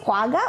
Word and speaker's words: quagga: quagga are you sure that's the how you pronounce it quagga or quenga okay okay it's correct about shortness